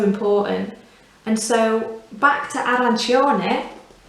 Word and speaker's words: arancione: and so back to arancione it's the same you want to make sure that you're placing the emphasis on the chop section of this word put a little arrow there to show ar because strangely it can